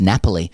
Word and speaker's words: Napoli: to understand is that it's pronounced Napoli, as in I'm having a nap.